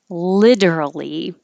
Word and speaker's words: literally: work smarter not harder literally you do need to say all these syllables literally but i think